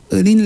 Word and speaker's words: Earleen: I get it right, Earleen? Yes. Okay, yes. I don't know why I said the wrong thing a while ago, but Earleen, yes, I've been saying it right all week, and then